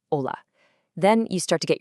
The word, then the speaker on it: hola: It just has its own little bit of music, like the NE sound, or the silent H you find in words like hola.